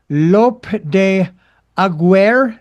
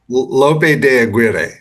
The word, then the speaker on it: Lope de Aguirre: But that of uh Lope de Agu. Is how's that is that pronounced correctly? You tell me how I how bad was it? How bad? Lope de Aguero.